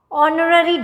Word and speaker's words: honorary: Because H sounds like O, R. Honorary degree, honorary.